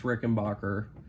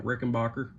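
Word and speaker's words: Rickenbacker: minute flight Max to rickenbacher Rick and Backer how depending on who you ask you'll get two different pronunciations of that airport but uh heading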